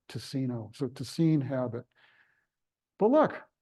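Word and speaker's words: Ticino: but it's pronounced toine because the Italians would pronounce it tacino TI c i n o tacino so toine habit but look we have a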